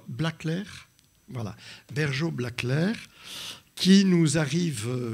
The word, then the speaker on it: Blackler: Et puis alors après, il faut dire Blaclair, voilà, Bergeau-Blaclair, qui nous arrive lointainement de Bordeaux, où elle a fait ses études et où elle a passé son doctorat.